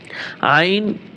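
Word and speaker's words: عين: ত ত ত জ আইন তিন আলিফ টান হবে গইন তিন আলিফ টান হবে আইন আইন গলার ভিতরে চাপিয়ে বলতে হবে আইন [সশব্দ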